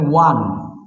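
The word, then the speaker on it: one: আচ্ছা এখন এন অরেঞ্জ, কিন্তু যদি আপনি বলেন ওয়ান, ওয়ান টাকা নোট, এক টাকা নোট, এটার আগে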